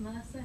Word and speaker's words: MRSA: I call it MRSA because I'm English, but I understand it's pronounced Mercer here. I was corrected today. It's both.